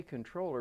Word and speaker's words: comptroller: legislature okay and and we say controller but it's spelled comptroller yeah why is that